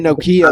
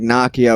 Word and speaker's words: Nakia: uh n-a-k-i yeah i i was always saying nokia like the phone but it's like nakia or whatever but it's it's she's